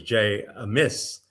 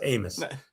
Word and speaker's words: Amos: Yeah, I incorrectly referred to him a couple weeks ago as Jay Amiss because I thought, well, he doesn't miss, he scores. I was just gonna say that can't be accurate because he's got 53 goals. Yeah, it has to be Jay a goal, but no, it's Amos.